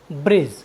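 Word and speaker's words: bridge: आई डी जी ई ब्रिज ब्रिज means होता है पुल साथियों यहां पर डी के बाद जी आया है इसलिए हमने डी का उच्चारण नहीं किया है हमारा नेक्स्ट वर्ड मीनिंग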